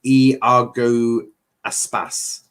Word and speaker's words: Iago Aspas: It's pronounced Iago Aspas.